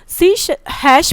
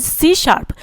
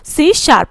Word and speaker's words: C#: सी हैश pronounced as सी शार्प, इसको pronounce किया जाता है सी हैश को सी शार्प से।